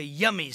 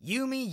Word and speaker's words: Yumi: And I haven't even told you Yummy's story. It's Yumi. Yumi, it's spelled like Yumi, I mean...